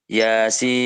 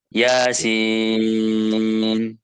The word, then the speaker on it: Yasin: Nah, ianya nggak boleh kepanjangan. Ianya berapa? Dua harokat. Oke, jadi mat tabi'i harfi yang hurufnya cuma 5 itu hanya 2 harokat saja. Yasin. Nah, jadi yang panjang itu sinnya. Yasin. Nah, terkadang kita kalau melihat orang-orang itu bacanya Yasin. Sama kan. Nah, jadi yang betul betulnya Yasin. Nah, yaknya apa termasuk apa?